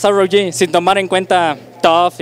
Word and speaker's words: TUF: TUF Su pronunciación se parece mucho a otra palabra en inglés, que significa rudo.